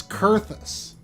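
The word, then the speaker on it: Coerthas: i thought it was like surface but it's curthus and chestnut which actually kind of is a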